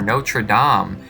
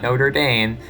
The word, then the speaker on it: Notre-Dame: research and just look at the estates-general or no true Dom yes it's pronounced nature Dom not notre-dame please don't pronounce it no true or Notre